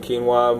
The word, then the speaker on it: quinoa: uh so actually look boom here's how you pronounce it quinoa mother grain super grain uh and a lot